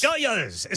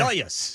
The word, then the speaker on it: Dodgers: Doyers. So is that how they pronounce it out in L.A.? Yeah, the yeah. Doyers. Because they have such a huge following in Latin America.